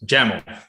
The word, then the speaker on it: YAML: uh is it pronounced yaml or jamal uh that's a good question well it has to rhyme with camel uh so it is actually pronounced gemma um well makes sense